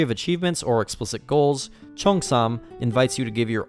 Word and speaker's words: Cheongsam: Cheongsam pronunciation. Cheongsam. Okay, Cheongsam. That's how you say it, Cheongsam.